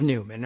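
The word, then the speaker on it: Neumann: doing that today and it is Newman or at least everyone has decided to pronounce it as Newman and so we're on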